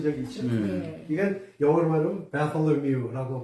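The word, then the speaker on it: Bartholomew: 이건 영어로 말하면 바톨로뮤라고 발음하죠. 바톨로뮤.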